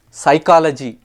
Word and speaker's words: psychology: dut it's doubt muscle has a silent c psychology It's s y p is silent Island s is silent is it's a